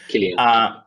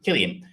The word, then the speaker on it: Cillian: Is it pronounced Cillian or Cillian? I've never been quite sure. Cillian. Cillian.